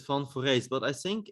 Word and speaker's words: van Foreest: say it yeah i i pronounce it fun for race but i think it's